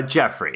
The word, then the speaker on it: Geoffrey: background and how how that's used absolutely uh Jeffrey is how it's pronounced yeah like uh let's see in the